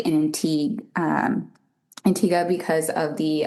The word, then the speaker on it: Antigua: So I always like to say Antigua and Barbuda because sometimes people pronounce it as Antigua, but that is not the island. Antigua is in Guatemala. So the island is Antigua.